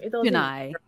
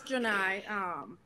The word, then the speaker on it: Janae: How do you say her name? Jinai. It's just take it however. She knows. It's Jinai.